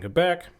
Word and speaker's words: Quebec: Okay, so so the Renault had constructed a factory in Quebec. I got corrected by somebody once. It's Quebec. And I'm like, no, it's French. You say it like a K.